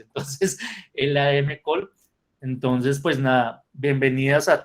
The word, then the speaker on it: LADM-COL: Yo le digo LAN-Col, pero ya me regañaron porque así no se dice. Entonces, LADM Col.